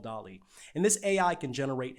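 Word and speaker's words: DALL-E: an artificial intelligence called dali kind of rhymes with wally you can imagine where the name came from wally anyway it's developing an artificial intelligence called dolly and this ai can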